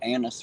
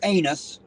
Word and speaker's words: anise: like the black licorice the anise flavor not anus I do not like anus flavored candy but the Anise is fun so I hope that my hillbilly ton allowed the difference in pronunciation there so they all know